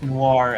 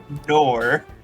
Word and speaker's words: Noir: Sorry, I was just thinking of like, yeah, I call her Beauty Thief instead of Noir, and then I remembered SGF's pronunciation of that word.